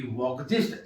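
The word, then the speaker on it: Volksgeist: दूसरा सेवेनी की वॉकजिस्ट एल और के साइलेंट है अंतर चेतना का सिद्धांत।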